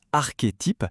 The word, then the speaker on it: archétype: D'ailleurs, ça se prononce archétype.